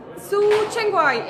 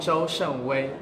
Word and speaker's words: Zhou Shengwei: Et le réalisateur est ici avec moi, il s'appelle Su Chengwai. Et je le dis mal, comment on dit? Hi. How do you say it? Zhou Shenwei.